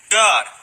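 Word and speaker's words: Gad: God, the same way it's pronounced in Enoch with that little vowel point above the A.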